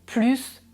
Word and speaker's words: plus: Ici, le signe se prononce plus.